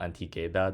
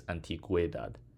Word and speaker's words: antigüedad: We need the two dots on the U to show that it's not antigüedad, it's antigüedad.